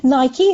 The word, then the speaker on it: Nike: And of course, all the Americans on this podcast listening will be going, Nike? Who the hell's Nike? I know I'm pronouncing it differently. We call it Nike.